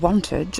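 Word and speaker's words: Wantage: And on my way here, I passed through a place called Wanted, I think is how you say it, which is the birthplace of King Alfred the Great.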